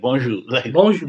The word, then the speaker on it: bonjour: bonjour, like Bonjour, bon. yeah, So, for example, bonjour, you don't pronounce the N, you have to pronounce it through your nose, yeah, like like bon, bon.